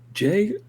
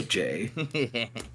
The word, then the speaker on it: Jei: Kruu like ruffles his head out of the blanket and goes, Jay, by any chance, do you spell your name with just the letter J? No. It's just pronounced with just the letter J.